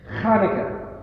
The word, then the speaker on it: Hanukkah: And it's actually pronounced as a guttural Hanukkah.